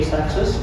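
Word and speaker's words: Seixas: I always pronounce his name sexist. If anybody hears of another way to pronounce his name, even if an if an authority like somebody famous tells you, just know that that person is wrong. And I'm right.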